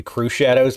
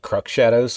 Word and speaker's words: Crux Shadows: I think it's supposed to be Crew Shadows, but I call it Crux Shadows because that's how it's spelled, and that's funnier to me.